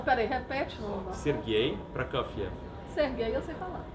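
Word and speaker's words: Prokofiev: aí repete ser gay PR cfia ser gay eu sei falar olha a pronúncia PR CF isso PR cev isso PR C aqui a gente chama de Sergei proc ciev né é Vamos aprender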